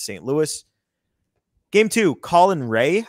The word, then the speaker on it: Rea: Game two, Colin Ray. I think it's pronounced R-E-A. Yep, Ray.